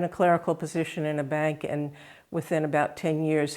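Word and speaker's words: Bain: a man named Louie ban we pronounce it ban it's spelled b a i n and he came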